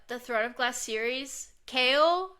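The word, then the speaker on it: Chaol: But the Throne of Glass series, Kale, it's spelled C H A O L. Do you know how I pronounced it until Kingdom of Ash? Like Cheryl. Cher. Cheryl. I put an R in there. I would call him Chair.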